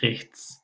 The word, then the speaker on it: rechts: بل دی rechts تی اس دلته اس یعنی لکه stimmlos دغه رقم تلفظ کیږي rechts.